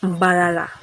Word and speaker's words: Mbarara: So the colonialists could not pronounce the place of Emburara. They call it Mbarara.